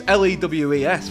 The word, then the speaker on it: Lewes: Well, on that point, it's Lewes. I initially pronounced it as Lose, which I don't think they would like.